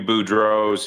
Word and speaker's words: Boudreault: a lot of people there's no LT at the end.